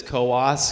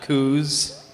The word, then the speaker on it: Coos: and as he says it's Coos County not czz there's the umot um